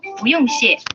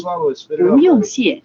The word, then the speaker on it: 不: And the response should be 不用谢 You're welcome. 不用谢 Yes, you can get the pronunciation of 不 by deleting the sh from the English word bush, B-U-S-H, and then you